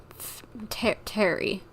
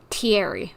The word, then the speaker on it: Thierry: So, Terry, that's how you pronounce the name, I'm guessing. Hey, Thierry, it's me. Thierry, okay.